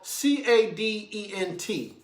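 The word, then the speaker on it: cadent: you to look up the word is spell c-a-d-e-n-t is pronounced caden the word is spelled c-a-d-e-n-t i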